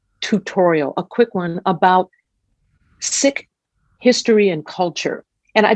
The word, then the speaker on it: Sikh: So it is pronounced Sikh with an aspirated H, but if you say Sikh, most likely we will